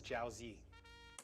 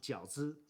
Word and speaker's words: 饺子: This is jiaozi. What he say? What he say? This is jiaozi. Jiaozi. What is this white people pronunciation? Right, Uncle Roger. It should be pronounced 饺子.